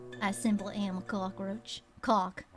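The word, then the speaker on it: Cocque: Cock, the cockroach. It's spelled C-O-C-Q-U-E. Thank you very much, it's French. Like coq magnifique.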